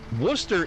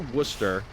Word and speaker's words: Worcester: Storm pronounced it right. Rare for Americans. No, it's because we have Worcester. Worcester is... Okay, so our Worcester, people would say that's Worcester, okay?